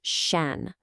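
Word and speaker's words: 山: It's pronounced shan.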